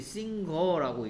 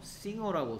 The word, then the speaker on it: singer: 자 내가 분명히 이거를 많은 학생들이 싱거라고 읽는데 싱거가 아니고 뭐라고 싱어라고 설명했습니다.